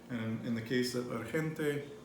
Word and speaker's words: urgente: So the G, I think it was just the way you started it. You actually pronounced the G correctly, but you were like, oh, you kind of like did that. But urgente. Urgente. Urgente. So anytime the G is before an E or an I, you're going to make it as a H.